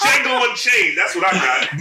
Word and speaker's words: Django: You know, it's Django Unchained. That's what I got. Man. I got the But look though, The D is silent.